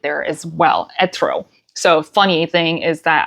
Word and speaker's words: Etro: But it's not Etro, it's Etro.